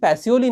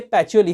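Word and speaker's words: Pacioli: यस दोस्तों, हाँ, यहाँ पे बहुत लोग गलतियां करते हैं, ये पैसियोली नहीं है, ये पैचियोली है। इटालियन लोग इसे पैचियोली करके प्रोनाउंस करते हैं, तो आपको भी उसी तरह से प्रोनाउंस करना चाहिए, क्योंकि ये जो सर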